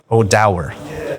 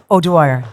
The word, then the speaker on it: O'Dwyer: Association and uh very warm welcome to odow did I did I pronounce it correctly this time owire OWI right all right lovely to have you